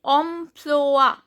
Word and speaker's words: emploi: Then emploi, S is silent, OI, OA.